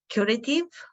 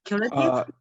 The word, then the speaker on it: Qritive: Is it Qritive? It is Qritive. Yes, perfect. Qritive.